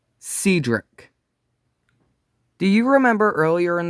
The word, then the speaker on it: Cedric: White Star said that Cedric's name should have been pronounced Cedric, but the public usually called her Cedric, which is what it looked like.